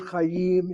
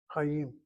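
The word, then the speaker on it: חיים: It's a monosyllabic word. Monosyllabic means one syllable, but it sounds like two syllables because the chet doesn't have a shana under it. It has a Chatah Patah. Chayim.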